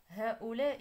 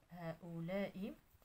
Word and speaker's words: هؤلاء: إذا هذا الخانة الأولى، هذان كذلك في الخانة الأولى، هذان، هاتان فالألف لم يحذف، إذا نكتبها في الخانة الثانية، هاتان، هؤلاء، إذا الألف محذوف، هؤلاء، ذلك، تلك، إذا ما